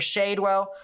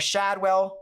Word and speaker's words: Shadwell: as well as areas near shadewell or Shadwell I think is how it's pronounced that is where the